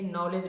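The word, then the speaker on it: knowledge: वैसे ही नॉलेज में एन के पहले क्या है? के है, तो के का उच्चारण नहीं होगा।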